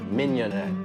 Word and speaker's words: mignonette: my business cards and he wrote out a filet mignon in a fishing net. And then he wrote the words mignonette underneath it. So that is the proper pronunciation.